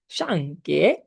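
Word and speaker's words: 上课: দিয়েছি, সেটা হচ্ছে যে শাংকে, শাংকে, দেখেন এটা কি উচ্চারণ হবে? সা, সা, এটা কি উচ্চারণ হবে? কে, কে, এরকম, তাহলে আলটিমেটলি উচ্চারণ কি হবে? শাংকে।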